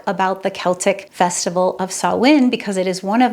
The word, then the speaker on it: Samhain: take a look at understanding sinn's historical significance sawin has ancient Celtic and pagan origins dating back over 2,000 years and you're noticing I'm saying sawin even though our English spelling Sam H is